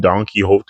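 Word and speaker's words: Donquixote: I'm telling you, when the name Donkey Hot first came up, I had no idea how to pronounce that.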